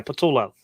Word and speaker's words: Patullo: Patullo, yeah, Patullo.